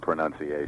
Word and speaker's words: pronunciation: people complaining about mispronunciation there is no noun in pronunciation all right well the